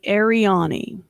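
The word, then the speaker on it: Arianni: the domain of the ariani no the inner world of the earth so that sounds a lot like aryan yes but it's spelled uh a a-r-i-a-n-n-i yeah so that sounds a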